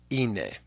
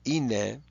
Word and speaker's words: είναι: If we remember that great old standby, ine, which means it is, he is, she is, and they are. In modern Greek, ine, they are, is spelled with an alpha iota.